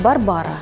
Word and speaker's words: Барбара: Вспомним, что Брыльска – польская актриса, а в польском языке ударение падает на предпоследний слог. Поэтому правильно говорить «Барбара».